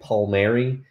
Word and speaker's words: Palmeiro: I believe the correct pronunciation of Palmeiro is actually Palmieri, and he was getting his 200th hit.